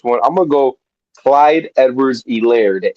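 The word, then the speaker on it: Edwards-Helaire: semi-serious on this one I'm gonna go Clyde Edwards elair the H is silent because this is a man who only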